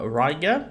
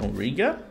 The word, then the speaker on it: Riga: home region of uh ryga riga depending on how you want to pronounce it uh we've got a